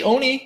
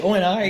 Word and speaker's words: ONI: you know that yeah at least say it right say Onie don't say o and I now we all know